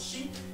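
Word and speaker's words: 四: Parce que le 4, ça se prononce chi, et chi, eh bien, excusez-moi, ça veut dire la mort.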